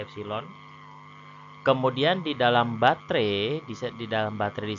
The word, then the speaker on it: epsilon: Itu dibacanya epsilon.